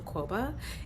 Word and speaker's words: Kwoba: Quoba. Am I pronouncing your last correct?